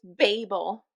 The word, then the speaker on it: Babel: Oh, did you Okay, so It's Babel.